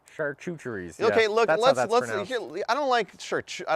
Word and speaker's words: charcuteries: uh some apple teeth we gotta have some churcheries charcuteries okay look let's let's i don't like church i don't like the pronunciation pronunciation of chartreutery chartreutery charcuterie charcuterie is